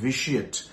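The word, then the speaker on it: vitiate: five ভিসিয়েট ভিআই টি আই এটি ভিটিয়েট নয় উচ্চারণটা হবে ভিসিয়েট ভিসিয়েট কথাটার মানে একচুয়ালি হচ্ছে টু কমপ্লিটলি ডেস্ট্রয়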